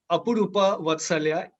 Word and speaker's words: Apurupa Vatsalya: Now, today I have with me Apurupa Vatsalya. I'm sorry if I have not pronounced your name correctly.